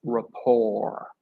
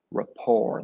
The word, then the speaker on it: rapport: of the word it's Rapport Rapport the t is silent and what does rapport